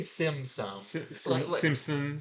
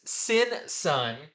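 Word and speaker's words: Simon Baz: about uh let's see I keep I keep wanting to mispronounce the character's name since son yeah I can't wanna say Simpson Simpson yes Samsung or something like that no it's sin Sun and of course this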